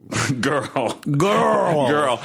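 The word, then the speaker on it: Jørrel: So when I was in Norway this past year, I met somebody, and her name was Girl, and it's spelled J with an O and a slash to the O, RREL. Girl.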